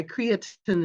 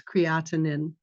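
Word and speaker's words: creatinine: letters count in healthcare or my creatin is out of line where it's creatinin so just learn how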